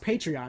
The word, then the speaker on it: Patreon: just keep going even it's pronounced patreon but you just damn